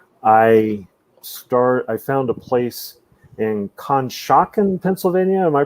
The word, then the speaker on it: Conshohocken: I found a place in Conshohocken, Pennsylvania. Am I pronouncing that correctly? Conshohocken.